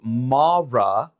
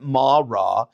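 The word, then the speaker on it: Marah: die but what happens when they came to Mara Mara that's how you pronounce it Mara Mara is a Hebrew word that means bitter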